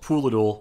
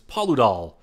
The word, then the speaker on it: Paludal: I call it Pooladul. I shouldn't. It's Paludal. But one thing you'll learn